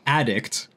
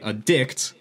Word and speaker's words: addict: i say yes like addict then i'm talking about a noun but if i say addict and i put the emphasis on the second half then it's a verb type of thing yeah